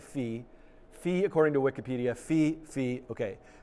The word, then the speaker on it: phi: So if anybody who feels strongly about the pronunciation, writing F-P-H-I is not helpful to me, phi. Everyone is saying phi.